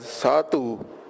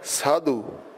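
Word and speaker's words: ਸਾਧੂ: in ban or sadu note that we're not pronouncing this as satu but sadu papa will give the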